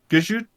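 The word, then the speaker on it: Gesicht: Gajut. It sounds like Gesundheit.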